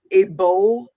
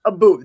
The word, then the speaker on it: Abu: He's a British bodybuilder, Abo. Yes. Yeah. Okay. Abu, I think it is. Yeah, Abu. That's the correct pronunciation.